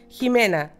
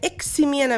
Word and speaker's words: Ximena: Mi nombre, yo le digo, pronúncialo como si fuera Huikius. Jimena. ¿Cachai? ¿Y cómo te dicen? No, me dicen Ximena. Ximena. Me dicen Ximena. Ex-Ximena me dicen.